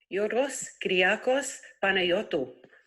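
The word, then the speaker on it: Γιώργος Κυριάκος Παναγιώτου: She sent us how to say George Michael's name in Greek because we butchered it every time. So here it is. Hang on a sec. Yorgos Kyriakos Panayotou.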